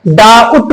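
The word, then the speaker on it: doubt: क्या है सेकंड वाला, टी से पहले बी हो तो बी प्राय साइलेंट होगा। फॉर एग्जाम्पल आप देख लीजिए डाउट है, इसको लिखा हुआ क्या है, डाउट है ना, डाउट। तो अब इसको हम जो है डाउट बोलते हैं इस वजह से क्योंकि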